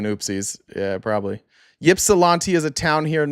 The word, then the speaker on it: Ypsilanti: So it's, the Y is silent. So what about the P? So it's Ypsilanti, or is the P also silent? Ips. Okay, it is Ips.